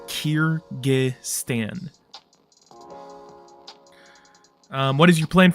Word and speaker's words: Kyrgyz: earlier days um but if you're wondering how to say it it is Kiran um what is your